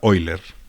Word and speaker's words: Euler: matemático muy prolífico que se llamaba euler o se pronuncia oilers y fue el primero